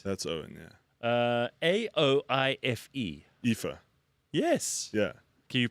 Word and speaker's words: Aoife: Aoife. Aoife. Yes. Yeah. Okay, you probably know some people who I know got these like names, right? I think I know like 3 Aoifes.